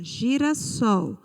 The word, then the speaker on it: girassol: Eu peguei primeiro essa palavra aqui, ó, girassol. A sílaba tônica na palavra girassol foi a sílaba sol. Observe que a sílaba sol, ela é a última sílaba da palavra. Então, nós classificamos esta palavra como oxítona.